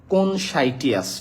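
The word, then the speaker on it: conscientious: আচ্ছা তাহলে এটা এটার উচ্চারণটা একটু লিখে দেই উচ্চারণটা এরকম হবে কনসাইটিয়াস ঠিক আছে কোন সাইটিয়াস কনসাইটিয়াস মানে হচ্ছে ওই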